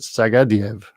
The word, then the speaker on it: Sagdiev: okay his surname is sagdiev s-a-g-d-i-e-v he sort of pronounces it sagadiev but anyway the answer is sag diev and for a bonus